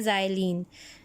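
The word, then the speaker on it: xylene: उसको हम कहते हैं ज़ाइलीन। दिस इज़ नॉट, ये एक्स है लेकिन इसको जब प्रोनाउंसिएशन होती है तो एक्स को जी कहा जाता है और ये आपके पास बन जाता है ज़ाइलीन।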